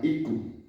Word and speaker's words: Iku: Ellos se llaman Ik y el idioma se llama Iku, con una U partida, que se pronuncia U, y que hay los mamas o mamos, que también están mal oímos muy mal, es mamu.